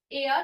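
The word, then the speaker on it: heir: है ए ना है, एयर, तो ये क्या है, इसका साउंड कैसा है, वॉवेल साउंड है, इसलिए इसके पहले क्या आएगा एन आएगा, एच साइलेंट आता है ईयर, ठीक है।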